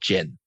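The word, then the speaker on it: Djinn: we've just come out with though it's called Jin it's spelled DJ I NN which In some cultures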